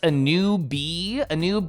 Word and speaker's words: Anubis: Well, Anubis can come later in life when I've accomplished more things. It's pronounced a new bee, like, oh, imagine like